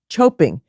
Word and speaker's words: choping: their dishes it's called choping which rhymes with hoping as in we're hoping